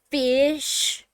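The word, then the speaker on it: ghoti: just saying my opinion g-h-o-t-i for instance is pronounced fish now who in the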